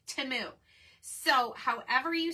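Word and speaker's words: Temu: the other day so I used to say Teemu like everyone else and then supposedly I didn't watch the Super Bowl but supposedly there was a teu timu commercial and they pronounced it timu so however you say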